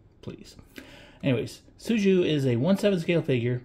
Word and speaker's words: Su Jiu: spelled S-U space J-I-U, and I always was calling it her Suijui or Sujui or whatever. Finally, I decided I'm going to put this into Google Translate and have it pronounce it. And I guess it's pronounced Suju. So nice and simple, Suju.